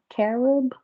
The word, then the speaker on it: carob: do you ever use karab chips what is it i'm not sure if i'm pronouncing this right karab carob chips oh caramel arab okay